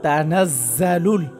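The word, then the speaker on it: تنزل: এই যে তানাজ্জালুল, জায়ের উচ্চারণ শক্ত হবে, জালুল মালা, এখানে চার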